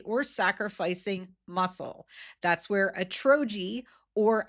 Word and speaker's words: Atrogi: That's where Atrogi, or Atrogi as some pronounce it, a clinical stage Swedish biotech company, comes in.